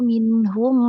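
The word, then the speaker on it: مِنْهُمْ: Kemudian juga pada la'azzabna alladzina kafaru minhum azaban alima. Nah, tidak minhum, tidak ada ne-nya di situ ya.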